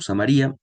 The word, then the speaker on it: Samaria: Vieron que en el texto decía Samaria sin acento en la I, yo lo leí como Samaria. Me gusta más la pronunciación Samaria, creo que es más adecuada, pero no importa, eso